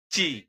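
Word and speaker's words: ci: আসলে উচ্চারণের পার্থক্য নেই পরক্ষণে দেখুন আছে চি এটি কিন্তু আমরা সাধারণত সি উচ্চারণ করেছি ইংলিশে মোটেই সি উচ্চারণ করা যাবে না এটি হবে চি আসুন তারপরে দেখি ডি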